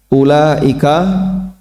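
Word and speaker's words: أولئك: Ulaika itu kan un-nya dibaca dibaca pendek. Kadang ada sebagian orang yang bacanya panjang.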